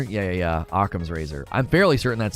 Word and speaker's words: Occam's razor: in the book you could think it's like okum's razor yeah yeah occam's razor i'm fairly certain that's how you pronounce it it's named after um was he